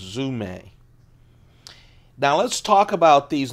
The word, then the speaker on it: Zome: fours Spyderco zoom a delicate fours zoom a zom but it is pronounced zoom a now let's talk about these limited editions usually